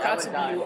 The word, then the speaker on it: Kotzebue: So I was actually looking up Kotzebue on Google Maps.